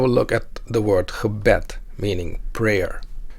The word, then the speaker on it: gebed: It has 2 syllables. When mimicking the word stress with a percussion instrument, it sounds like this. Gebed, gebed, gebed. The first part of the word, the prefix ge, is unstressed.